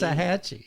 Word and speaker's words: Waxahachie: So Waxahachie. Waxahachie.